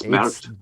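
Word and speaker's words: Смерть: and it's pronounced like Smert Voraham. Oh, it's pronounced like what? Smert Voraham. Smert. Smert. It's Smert.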